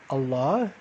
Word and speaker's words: الله: inside of you so allah like we said is the name of god and the right way to pronounce it is by making the emphasis on the second syllable instead of the first okay very good so